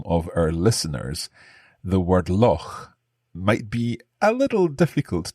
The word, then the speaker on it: loch: So loch is a kind of unusual word in English because this sound, this CH that you make in your throat, this doesn't exist elsewhere in English.